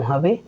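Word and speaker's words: ح: জিম, জিম, সার উচ্চারণ একটু নরম হবে আর জিমের উচ্চারণ একটু শক্ত হবে। হা, হা, আমাদেরকে খেয়াল রাখতে হবে, হা উচ্চারণ করতে হলে একটু মুখ থেকে বাতাস বের হবে।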